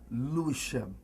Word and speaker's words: Lewisham: Yeah, so you were born in Lewisham, London. No, Lewisham. Lewisham is There you pronounced. go, Okay, Lewisham. see?